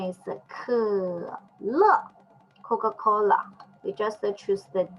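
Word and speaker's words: 可乐: And this and the pronunciation just like we say bird, and also just like we say her, and this pronunciation is 可乐 Coca-Cola.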